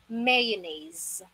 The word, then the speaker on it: mayonnaise: Dahil ang tamang pronunciation dito ay, listen carefully, ang sound ng S dyan ay Z sound. It is mayonnaise. Again, it's mayonnaise.